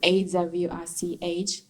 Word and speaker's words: Awich: be true to that, and just took, I turned Akiko into Asia Wish Child, and then turned that, like I squished it, and then and then just took AWICH and just pronounced it Awich.